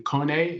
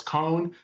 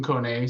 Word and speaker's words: Kone: Uh the company's name is actually Kone. It's spelled cone. So, everybody pronounces it as cone, but it's actually Finnish.